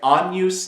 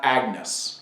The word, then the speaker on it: Agnus: Anus day, right? Anus, not agnus, right?